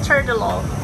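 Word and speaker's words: trdelník: Ah, it's pronounced Turdolo.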